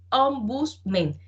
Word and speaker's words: ombudsman: El defensor del pueblo también se le suele llamar, perdónenme, el término o la pronunciación, mejor aún, en ombudsman. Ombudsman.